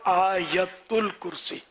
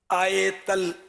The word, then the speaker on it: آیت الکرسی: اچھا وہ آیت الکرسی، آیت ال، اس میں لوگ اس کو بھی آیتل یا آیتل ہے نا، آیتل کرسی، آتل کرسی، یوں بھی لوگ بول دیتے ہیں. تو اصل تلفظ ہے آیت الکرسی.